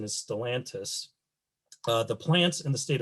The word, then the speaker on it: Stellantis: company created is known as, I believe the pronunciation is Stellantis, the plants in the state of Michigan are continuing to operate under the name FCA.